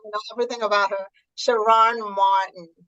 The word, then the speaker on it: Sharrarne Morton: know everything about her shiron Martin am I pronouncing your name correctly shiron Morton that's correct thank you Dr Sandy tell